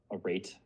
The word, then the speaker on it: arete: an answer, but it's more of like the arete or whatever.